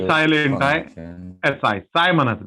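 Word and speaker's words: psi: साय म्हणायचं, साय. ठीक आहे. पी हा सायलेंट आहे, एस आय त्याचं स्पेलिंग आहे.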